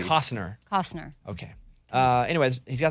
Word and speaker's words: Kevin Costner: It's not Kevin Costner. It's not Costner. Dude, what if he comes on and says it's Costner, guys? The T silent. You just said it right for the No, first I said time ever. Costner. Costner. No, you Cost- said the T. You said it. No, I didn't. It's not Cosner.